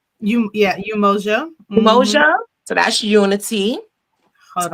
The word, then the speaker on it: Umoja: So, Emoja, that's your business name also, right, Athenia? That is. And that was. Am I saying it right? Umoja.